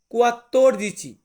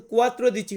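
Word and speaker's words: quattordici: আমরা ইতালিয়ান ভাষাতে বলব কুয়াত্তর দিচি কুয়াত্তর দিচি এটা কিন্তু কুয়াত্র দিচি হবে না এটা হবে কুয়াত্তর দিচি মানে 14 দেন আছে 15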